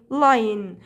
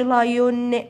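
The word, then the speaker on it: lion: تمام طيب بعد كده عندنا الاسد اسمه ايه لاين لاين لاين لاين وما تقولش لايون لا صوت الاومع ال ان تديك يبقى اسمها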